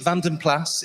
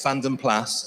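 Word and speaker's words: Vanden Plas: And the debate will rage forever on, is it Van den Plas? Is it Van den Pla? Fuzz tells me it's Van den Plas. Apparently it's a Flemish name and you pronounce it with a hard S.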